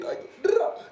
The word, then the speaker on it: Diako: Y'all know my name right here, Dyko is how you pronounce it.